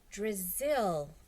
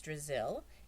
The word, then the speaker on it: Drizzle: drizzle it was just a little joke rhymes with drizzle I thought it might help you remember my name Terrence laughed